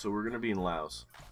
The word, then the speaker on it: Laos: we're gonna be in Laos I know it's not pronounced with the ass but you just gotta